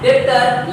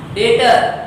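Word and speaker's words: debtor: लिखाता है डेप्टर, लेकिन पढ़ेंगे क्या, डेटर। पढ़ेंगे क्या, डेटर। बी को साइलेंट करके पढ़ेंगे, ठीक है ना।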